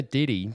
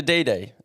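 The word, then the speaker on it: DiDi: we we found that but we found the Diddy the app is that you pronounce it DD the app uh was about 50 cheaper than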